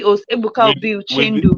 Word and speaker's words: Uchendu: TV host Ebuka With Obi with Uchendu, with MEN yes, pronounced like MEN, men.